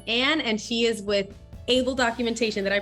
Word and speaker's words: ABL: her name is Anne and she is with able documentation that I pronounced that correctly Anne yes you did yes